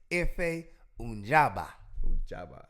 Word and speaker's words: Efe Ajagba: He beat him down, and then I think the way you pronounce the other dude is Efe Ajagba.